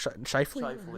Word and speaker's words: Scheifele: But they got Sheffley still. Mark Scheifele? Yeah. I said it wrong.